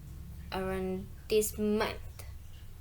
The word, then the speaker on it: arrondissement: Explanation, it's because as a French loan word, the stress falls on the final syllable. So, to read it properly, it's arrondissement.